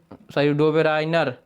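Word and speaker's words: Döbereiner: तो डोबेराइनर। डोबेराइन ने डोबेराइनर, ठीक है, इसको याद करिएगा, थोड़ा उच्चारण में गलती हो गया था, उसके लिए माफ़ी चाहेंगे।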